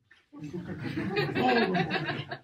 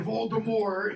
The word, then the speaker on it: Voldemort: Voldemort. Or Voldemort, if you want to give it its kind of Frenchy pronunciation.